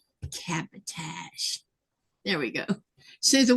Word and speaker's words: cabotage: Cabotage. Cabotage.